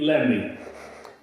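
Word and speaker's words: Lamey: name was married lemmy it's l-a-m-e-y which pronounced late lemmy and uh because she brought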